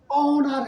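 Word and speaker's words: honour: अब जब उच्चारण के अनुसार जब करेंगे तो ऑनेस्ट है, आवर है, ओमैन है और ऑनर है। ये जितने भी शब्द हैं इसके साथ में क्या होता है, प्रोनाउंसिएशन के साथ में क्या हो रहा है,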